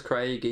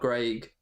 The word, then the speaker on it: Craig: this channel christensen punishing my name is craig not greg it's spelled with a